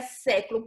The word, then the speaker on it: século: Quando você pronuncia século, pronuncia aí na sua casa, século. Você percebe que você abre mais a sua boca? Século. Agora pronuncie lâmpada, lã. Percebe que você abre a boca, mas não é tanto quanto em século?